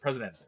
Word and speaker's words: presidente: the chairman, the president, the how to properly pronounce it, presidente.